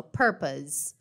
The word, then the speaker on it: purpose: Reparem que essa palavrinha purpose, purpose, olha a pronúncia dela, ó, purpose. Então tem um som de Z, né? Purpose.